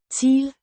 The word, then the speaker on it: til: Teel. Means to, pronounced Teel. similar to the English word till, but with a shorter, less drawn out I sound.